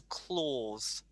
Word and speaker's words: clause: your pronunciation for this remember a u is more of an or sound so it's a clause oh or maybe